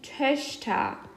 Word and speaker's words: Töchter: Das ist die Töchter. So, it's a big pronunciation change. Tochter, Töchter, Töchter. Pretty much the O is now an Ö.